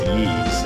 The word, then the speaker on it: Ys: little weird it's called ease but it's just the letter y but it's pronounced yees and this is the